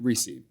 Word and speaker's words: Recce: It's just Recce here.